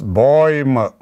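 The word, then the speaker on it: Bäume: so we and pluralis baum is boym with umbrella boy we pronounce it as boymo tree father and it's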